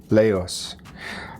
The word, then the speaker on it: Laos: a popular dish from Laos. I'm told that it's pronounced as Lao, but it's spelled Laos.